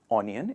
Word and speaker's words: onion: o in the beginning it is not onion it is a sound onion so the vegetable that